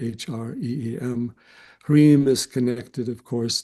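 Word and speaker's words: ह्रीं: You can spell it phonetically, H-R-E-E-M.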